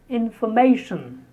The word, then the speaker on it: information: 60, information. Information. Normally when you have tion at the end of a word, especially when a verb is converted into a noun with tion, the stress is on the second last syllable. For example, information, examination, calculation, reservation, preparation. So our word here, 60, is information.